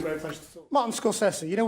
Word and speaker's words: Scorsese: Martin Scorsese. You know, we've been mispronouncing his name Scorsese for years, but that's how he says it.